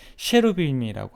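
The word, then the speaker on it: cherubim: 그룹을 영어 발음으로 하면 셰루빔이라고 하고 히브리 원어로는 커럽이라고 하는데요.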